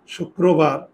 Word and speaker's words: শুক্রবার: কিন্তু আমরা জানি রফলা থাকলে এই বর্ণটা কয়বার উচ্চারণ হবে? 2বার। তাহলে দেখো 2বার যদি দিই, শুক, আর এই রো তো আছেই, শুক্রবার, এই যে ও, এই ওটাই এখানে চলে আসছে।